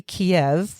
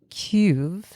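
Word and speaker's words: Kyiv: Union or Russia, um the actual pronunciation is cube. It's it's a weird it's like a key and then there's a y ending, but it's hard to make that sound without a lot of practice.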